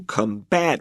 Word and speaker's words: combat: now notice Karen said to combat with stress on the second syllable when it's a verb where we will say to combat the noun is combat with the stress on the first syllable okay so what was